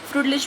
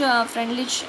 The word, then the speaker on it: Freundlich: हाँ जी, तो देखिए फ्रूटलिच भी बोल देते हैं इसको, ठीक है। तो फ्रूटलिच फ्रेंडलिच अगर जैसे भी आप प्रोनाउंस करना चाहो, तो फ्रूटलिच एड्जॉर्प्शन आइसोथर्म, इट